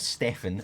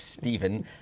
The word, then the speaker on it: Stephen: The pronunciation of my name is not Stefan. It's Stephen, and it's the Anglo-Saxon spelling of Stephen.